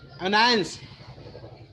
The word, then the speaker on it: annoyance: Here, let's say if I talk about this word, annoyance में you are focusing more on ans, not an. That means कि you are focusing, you are emphasizing on the second syllable.